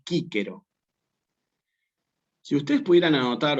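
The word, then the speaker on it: Cicero: Se escribe Cícero, pero en latín clásico se pronuncia así como está escrito aquí, que es Quíquero.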